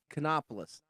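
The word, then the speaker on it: Kanopolis: even know how to pronounce the name of it. Cheney. No, it's sort of the K. Canopolis.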